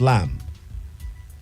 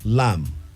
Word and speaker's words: lamb: is mutton dressed as lamb she is mutton dressed as lamb wton lam is spelled a l-a-m-b b the b is silent she is mutton dressed